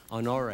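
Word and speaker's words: Honoré: I'd urge you again to read, there's a memorandum for the record produced by Major General Russell, I think his name's pronounced Honore.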